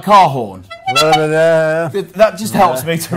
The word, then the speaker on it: Korhon: We're joined by, now, let's get the pronunciation of this right.. Yeah. And then the surname is Korhon. Yeah. So a bit like Korhon.